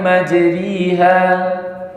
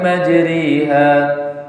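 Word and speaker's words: مجراها: kasrah waqabu fiha Bismillahi majriha maka ini dibaca imalah yaitu apa miring antara Fatah dengan apa tadi kasr maka bacanya waqabu fiha Bismillahi majriha majriha bukan langsung e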